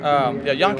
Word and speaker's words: Yankii: Yonke is just kind of the Japanese way to pronounce it, but you can say Yankee Special.